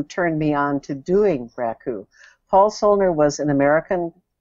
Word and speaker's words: raku: you discovered um uh raku raku it's pronounced right riku yeah raku okay i'm not cool